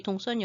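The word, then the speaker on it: Đông Sơn: 손이라고 옛날에는 많이 나왔었는데요 요즘 베트남 발음을 중요시 해서 동선으로 이제 한글 표기를 하고 있습니다 여기 동선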